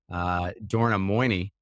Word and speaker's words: Dorna Moini: Today, I am here to talk with Dorna Moini. Am I pronouncing that right?